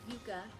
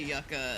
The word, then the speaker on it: yucca: Whether you say yuka, whether you say yucka, there's definitely one that is correct and it's yuka, right?